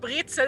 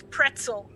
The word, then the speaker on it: Brezel: country that and, pronounces the word brezel as pretzel. Like, I'm not gonna take anything. I want What? some pretzels. Wait, what? The word. Brezel. Pretzels? You guys pronounce it as pretzel, and I don't know why. There's And no what- P in there or You T, pronounce it just like an evil brezel. mad scientist. Pretzel. That's how you. But Brezel. it's written P-R-E. No, just in English.